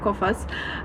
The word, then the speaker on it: Coface: So, it's actually French and it's pronouncing like Kofas.